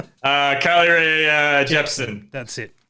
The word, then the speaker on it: Jepsen: a name Carly Rae Jepsen that's it or a Yepsen if you want to be a Swedish pronouncing soft J breaking yagi we need